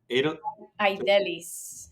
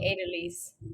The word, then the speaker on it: Aidelys: And and I would say I don't sorry I I still don't know how um how do you say it again? Adidelis but the Americans call me Adal. Adelise.